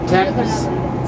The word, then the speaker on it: Thames: That church there is the River Thames. We don't pronounce the H because the Romans called it Tamesis.